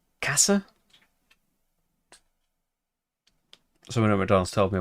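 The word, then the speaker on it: Käse: I was pronouncing cheese wrong. It's like Kasse.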